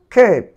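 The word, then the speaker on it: cape: এরপরে দেখো ক্যাপ, ক্যাপ এটি ক্যাপই হয়নি, কেপ, কেপ এর উচ্চারণ হয়েছে কেপ।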